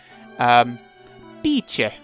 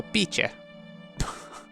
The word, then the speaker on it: Bice: Bice, in Italian, so she's Italian, apparently. So, Bice. I'd probably say Bici more than anything, but we'll, Bice, because it's Italian.